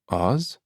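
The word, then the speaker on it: Aas: Two A's in Norwegian are pronounced like an A with a hoop on top of it.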